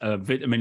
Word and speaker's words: vitamin: So I'm going to, for the rest of the show, hopefully pronounce vitamin in the British way rather than saying vitamin, which will have people going, what is he saying that for?